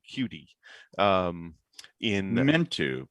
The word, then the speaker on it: Qt: yes oh that's funny qt i never really thought about it as uh quicktime i'm pretty sure qt is is meant to sound like cutie um in i meant